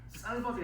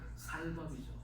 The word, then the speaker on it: 쌀밥: 경상도사는 이게 쌀밥이 아니고 살밥이죠. 그죠? 쌀과 살이 구별이 있잖아요. 그런데 보가 예를 들어서 그죠? 살을 먹습니다 하는 신인종도 아니고 그죠? 쌀이잖아요.